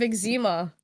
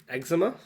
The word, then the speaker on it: eczema: What if, yeah, I was gonna say, what if you have a type of eczema? Eczema.